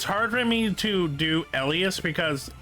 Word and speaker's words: Elias: It's like how they pronounce it is their choice, but it's like it's hard for me to do Elas because E L I A S to me is like Elias, and Elias always